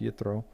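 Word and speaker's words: Yitro: around whether or not this is Jethro in the Hebrew would be pronounced you throw or it's it's the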